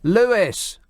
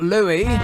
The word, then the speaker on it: Lewis: Lewis. Britain. Wherein? Not Louie. There is no silent S in this country.